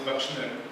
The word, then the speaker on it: bakshner: Bakshner is the plural form, but in fact, the schwa here phonetically has the back value, so it's bakshner.